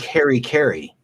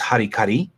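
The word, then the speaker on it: harakiri: It's like Harry Carey. That one's really mangled because it's harikari, and it's so mangled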